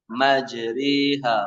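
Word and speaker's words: مجراها: Majriha wa mursaha. Roknya dibaca tebal apa tipis ini? Asalnya majroha. Kalau majriha dibaca apa? Tipis. Bacanya majri, bukan majri, bukan. Majri, tipis. Majriha.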